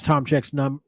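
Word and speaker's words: Tomczyk: And by the way, that's how you pronounce Tomchek's name. It's Tomccyzk or CZYK, whichever one it is. But it's Tomchek.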